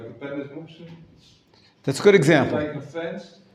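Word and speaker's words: מוקצה: The proper pronunciation is Muktzah in Hebrew, but thank you, David. It's commonly pronounced Muktzah, or Muktzah, Muktzah, not Muktzeh, but it doesn't matter. It's the same thing.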